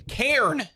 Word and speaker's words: Cairn: First game, Cairn.